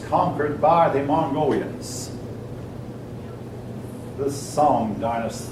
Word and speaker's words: Song: The Song Dynasty. That's actually pronounced Sung, I believe.